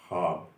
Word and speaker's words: خواب: اردو میں قاعدہ ہے، خے واو اور الف جہاں ایک ساتھ آتے ہیں، جیسے خواب ہے، خواہش ہے، تو یہاں واو سائلنٹ ہو جاتا ہے۔ اس کا تلفظ خواب اور خواہش نہیں ہوتا، اس کا صحیح تلفظ ہوتا ہے خواب، خواہش۔ لیکن ہم عام طور پر غلط بول جاتے ہیں، خواب بول جاتے ہیں،